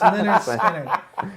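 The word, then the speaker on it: Lynyrd Skynyrd: Leonard, pronounced Leonard Skinner.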